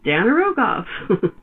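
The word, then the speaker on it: Dan yr Ogof: And it's just the way it looks, Danar Ogof.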